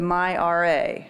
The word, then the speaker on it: myRA: department to create the myra and i did say that correctly everybody take note how this is pronounced this does sound stand